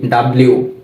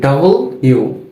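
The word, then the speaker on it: W: এরপর ডাবল ইউ, আমরা এটাকে বলি ডাব্লিউ, তবে এটার উচ্চারণ হচ্ছে কি ডাবল ইউ।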